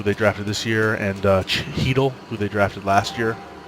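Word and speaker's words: Chytil: with kratsov who they drafted this year and Cheadle who they drafted last year at 27 he dulce h y TI l but is pronounced heat'll and then they've got a lot of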